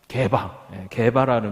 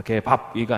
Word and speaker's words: 게바: 게바라는 별명. 발음을 잘 하셔야 해요. 게바입니다. 게밥이가 아니고 게바.